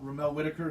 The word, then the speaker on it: Ramel Whitaker: oh and yeah yeah ramel ramel whitaker the cayman islands man he's my buddy man that's how you say it i think they speak